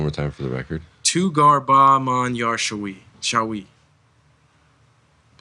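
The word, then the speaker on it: تو گر با من یار شوی: Can you pronounce it one more time for the record? Tugar Ba Man Yar Shawi.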